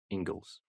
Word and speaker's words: Inglis: It's spelled Inglis, I believe, but pronounced Ingles.